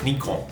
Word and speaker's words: Nikon: You can say it all different ways. You've got Nikon, Nikon, and Nikon, which is the Japanese way of saying it.